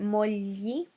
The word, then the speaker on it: mogli: Yes, finally is the sound GLI, which is li. So we're not pronouncing the G, it's a silent G, but at the same time it's different to just LI, which would be li. This is slightly different.